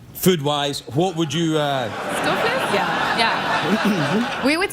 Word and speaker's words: stoofvlees: You know, hey, you didn't say it properly. You got to say it like this, stoofvlees.